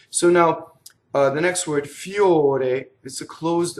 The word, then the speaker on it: fior: Now in this case, the full word is fiore, and to be poetic, they want one syllable, so they cut off the last syllable. And now the R rolls because it touches the next word, the M, right? So it's going to be fior.